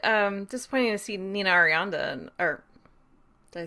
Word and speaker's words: Arianda: a little bit um disappointing to see nina arianda and or did i say her name wrong no you got it yeah uh to